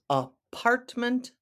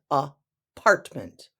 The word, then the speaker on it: apartment: you're staying at someone's apartment building apartment building the emphasis is on the second syllable in apartment the first a is